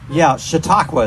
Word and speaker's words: Chautauqua: Chautauqua is the name you pronounce that.